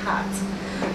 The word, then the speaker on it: hat: yes so a hat I always have to correct her and say no not rat but hat but uh there was